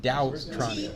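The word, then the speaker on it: TaoTronics: You probably don't need I think it's pronounced Dowtronics. T-A-O. Yeah. Tau. Tau. T-A-O.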